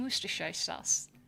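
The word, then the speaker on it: Worcestershire: I know like they pronounce it like jeves and woristers sauce.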